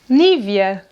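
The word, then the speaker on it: Nivea: And when your skin is dry, maybe you use a cream from this brand here: “NÍVEA”, “NÍVEA”.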